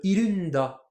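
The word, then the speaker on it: いるんだ: Par exemple, irunda. Alors bon, là c'est iru, da. Moi, je le séparerais en trois mots. Hein. De base, c'est irunoda, mais qui se prononce beaucoup à l'oral.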